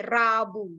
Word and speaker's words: Rabu: It's tough to say Rabu because some of you, they have a problem to pronounce R. Rabu.